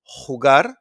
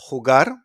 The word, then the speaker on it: jugar: It's pronounced like a h, okay, from your throat. Sounds come from Arabic, okay? So we got jugar, jugar, to play, jugar.